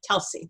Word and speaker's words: Telsie: That's how you say my name, Telsie.